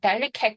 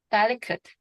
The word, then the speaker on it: delicate: 내 강세니까 뒤에 있는 여기는 강세가 안 들어가야 되겠죠. 제가 어떻게 발음해서 어이 정도로 발음하러 했잖아. del리케ate 하지 마시고 delicate delicate 그죠? 이게 어 그 정도 슈아입니다.